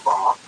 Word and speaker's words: Vav: It's made up of 4 letters, Yud-Heh-Wah or Vav, depending on how one pronounces it.